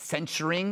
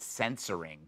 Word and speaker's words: censuring: I'm so happy that I learned to pronounce it. You know that I keep saying it, censuring? Because on the five, I said censoring.